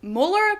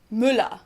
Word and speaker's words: Müller: say the name correctly Mula Muller no not Müller but Mula I don't really hear a